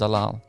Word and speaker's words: Zalal: I might not even be pronouncing his last name correctly, but I think his last name is pronounced Zalal.